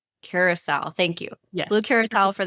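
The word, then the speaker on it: Curaçao: I had uh You're going to have to help me with this cuz you I always get this pronunciation wrong, but it's blue curous.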